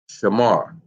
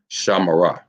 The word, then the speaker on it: shamar: We got it correct that the word is in fact shamar. Shalom, Yahweh, Shamar. So, if that's correct, then where should the connector go? Because without the connector, remember that word is pronounced Shamara. Shamara, without the connector.